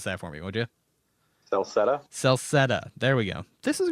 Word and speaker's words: Celceta: Pronounce that for me, would you? Celceta.